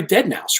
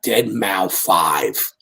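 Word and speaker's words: deadmau5: guys ought to book this guy, Dead Mao 5." Right? Yeah, we didn't know how to say the name back then.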